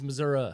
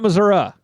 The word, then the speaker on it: Missouri: right on this Illinois it's Missouri man we're doing a podcast it's Missouri Missouri Missouri Missouri not Missoura are you from here's no a on theend of it I'm born here the